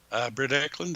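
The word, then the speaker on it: Britt Ekland: Britt Eklund, I think so, yeah. Yeah, that's how her name is pronounced.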